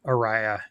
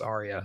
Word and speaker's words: Arya: um Arya oh yeah I pronounced it Aria in my head until I saw the series and I was like oh it's Arya sorry and then I you